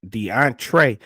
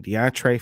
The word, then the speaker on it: Deontray: that you see on your screen is deont deontre Flanigan that's spelled D e o n t r a y Flanigan deantre Flanigan in case you want to look it